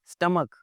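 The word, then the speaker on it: stomach: और जी इसके स्टोमच में दर्द हो रही है। स्टोमच नहीं भाई, स्टमक।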